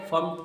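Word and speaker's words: firmed: इट फर्म्ड अप his decision, फर्म्ड कहते हैं फर्म्ड, यहाँ पर आर साइलेंट है, फर्म्ड पढ़ेंगे।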